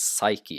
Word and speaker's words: psyche: comes from Greek and in English you do not pronounce p before s like this uh it's psyche and psychological and sometimes